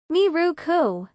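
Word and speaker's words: ミルク: "Miruku" is the English word "milk" pronounced in Japanese style.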